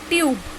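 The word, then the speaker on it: tube: अब हमने सो देखा ई लिखा है बट हमने ई का साउंड नहीं बोला. क्यों? क्योंकि ई यहाँ पे हमारा साइलेंट रहता है, मतलब म्यूट रहता है, और यू का साउंड जो होता है वो लॉन्ग हो जाता है, इसीलिए ये लॉन्ग साउंड वर्ड्स हो जाते हैं.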